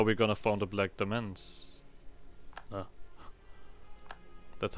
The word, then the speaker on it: Demesne: Because that's how we're gonna form the Black Demons. That's how you pronounce that.